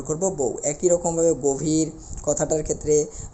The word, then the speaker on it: গভীর: এর উচ্চারণটা ও এর মতো হবে অর্থাৎ আমাদের উচ্চারণের ক্ষেত্রে আমাদের বলতে হবে গভীর আমাদের কি বলতে হবে একটু লিখি ভালো করে